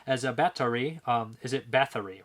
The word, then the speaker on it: Bathory: coast of belgium as a battery is it bathory right i always i always said her name wrong i say bathroom delphine sigrigs gushes with